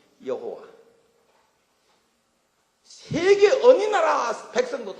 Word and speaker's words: 여호와: 영어로도 여호와 할 수 있고, 근데 영어는 또 제호바라고 해놨대. 참 신의 이름을 너무나 정확하게 부르는 건 굉장히 중요한 겁니다. 그래서 여호와, 하는데 여호와, 그래서 여호와 정확한 발음으로 여러분도 부르시고, 그 뒤에다 하나님이라고 부르는